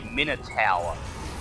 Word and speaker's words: Minotaur: stop it no no we've been saying it wrong this whole time according to dnd beyond it is a minor tower i'm sorry what the